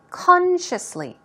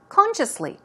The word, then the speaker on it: consciously: at the pronunciation first consciously stress goes right there on the first syllable let's try it two times together consciously consciously it means deliberately intentionally